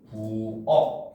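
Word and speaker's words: 부엌: 기역 받침 같은 경우는 부억 같은 경우는 역시 부억 해서 키이 기억으로 소리가 나는 겁니다 그죠 자 그다음 니은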